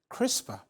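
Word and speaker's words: CRISPR: historic clinical trial to edit her jeans using crisper pronounced uh four years on Victoria gray does not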